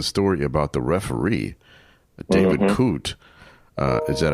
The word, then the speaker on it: Coote: There, in addition to that story, there's the story about the referee, David Coote. Is that how you pronounce his name?